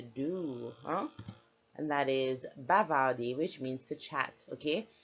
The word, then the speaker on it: bavarder: Er is pronounced a, like ay. So bavarder, not bavarder. Let me not hear you say it at any point in time. Bavarder, okay?